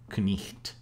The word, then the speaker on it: knight: For example, the GH in both night and night. Night used to be pronounced nicht. And you can see that the GH still exists in other sister languages of English, like German, where this word is Nacht, and the sound is still there.